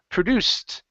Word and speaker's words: produced: the last one uh Ed ending here instead of produced okay give me a t sound produced produced good good all right